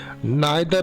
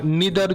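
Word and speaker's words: neither: নাইদার অফ দ টু আন্সারস dash correct. কি correct? না option C হবে সঠিক উত্তর। Is correct. কেন হলো? এই যে নাইদার বা নিদার যে উচ্চারণ করা হয় যেটা একই উচ্চারণ।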